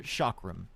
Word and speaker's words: chakram: Chakram thrower? Chakram.